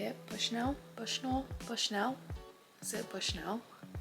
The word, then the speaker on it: Bushnell: Then the next book that I'm going to be reading is Sex in the City by Candace Bushnull, I think is how you say it. Bushnell.